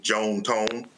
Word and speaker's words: John Tom: Uh they were southern from Mississippi, so they pronounced it Joan Tone.